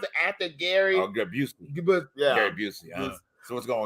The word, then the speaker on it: Busey: How you pronounce it after Gary? Oh, Busey.